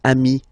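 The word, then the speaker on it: amis: it the same way so singular form Ami plural form you add this s but it's Ami as well okay in that case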